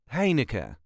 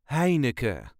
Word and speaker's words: Heineken: duchies say it is hea hea there is a very slight emphasis on the first syllable hey n hey n